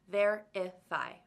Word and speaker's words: verify: Verify has 3 syllables, verify. And the first syllable is the loudest one, verify.